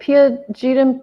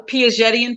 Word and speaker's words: Piagetian: uh what sabrina can you speak to the piaget programs you i think i pronounced it wrong we talked and i forgot oh the piagetian program oh yes yeah um and i guess